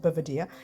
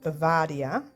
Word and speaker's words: Bavaria: wool you also have i always say this name wrong i call it bovedia it's actually called bavaria so there you go get it right mary and you have